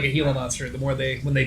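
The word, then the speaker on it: Gila monster: own native language no a g is an H sound J is an H sound you dumbass heila monster heila monster it's why I that's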